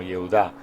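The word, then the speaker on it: יהודה: el de Judá, y Judá es una transliteración del hebreo que en su forma no abreviada se pronuncia como Yehudá.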